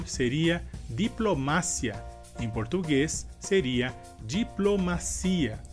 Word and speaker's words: diplomacia: Em português seria diplomacia. E a diferença seria que em espanhol a sílaba mais forte seria ma e em português a sílaba mais forte seria si.